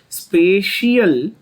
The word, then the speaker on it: spatial: एंड यहां पर stereo में लिखा हुआ है, चेक करना, having different स्पेशियल, SPATIAL, spatial, the word is pronounced as spatial, by the way, arrangement.